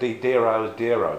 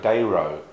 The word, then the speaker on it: Dero: pronounced d i mean most people now seem to pronounce diro but he actually pronounced Zero's dero um which is kind